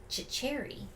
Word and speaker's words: Cecere: So, there was an actual stunt guy, and his name was, and hopefully I get it right, Anthony Cecere, which is actually spelled... Cecere. Yes, which is actually spelled like Cecre.